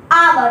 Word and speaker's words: hour: Next question is I shall be back in dash hour। तो दोस्तों इसमें जो H होता है वो होता है साइलेंट, तो इसमें साउंड आ रही है आ की।